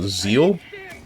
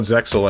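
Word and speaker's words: Zexal: Actually, the X is silent. Yu-Gi-Oh. Zeal. Like the word zeal. Reinforce it. I'm going to call it Zexil anyway.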